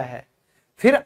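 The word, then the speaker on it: half: Okay, चाहिए, should, should में भी एल क्यों साइलेंट है, क्योंकि ये वावल के बाद आया है। फिर आधा, हाफ, क्योंकि ये ए के बाद आया है।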